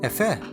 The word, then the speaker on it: Efe: And in case anyone was wondering how my last name is actually pronounced, it's Efe.